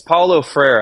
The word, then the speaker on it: Paulo Freire: him until I read your book yeah it's Paulo Freire and he's a very interesting figure because um